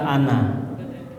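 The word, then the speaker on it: أنا: Yang pertama adalah kata ana. Diikutin ya. Pegang semua. Mohon ya. Ana, semua tulisan ana nanya dibaca pendek. Jika terpaksa wakof, tetap dibaca panjang satu alif.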